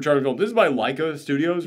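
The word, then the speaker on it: Laika: is a super Charming film this is by Leica Studios right that's how you pronounce it yes they have mastered charm in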